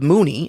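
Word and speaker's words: Moonee: We see this world of struggle through the eyes of Mooney. I think it's pronounced Mooney.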